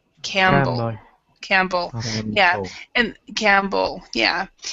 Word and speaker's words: Campbell: common English name but we do not usually when when we have a p or B those that type of thing together you do not pronounce both of the sounds and so it's camble so this P right here is silent Campell Campbell yeah and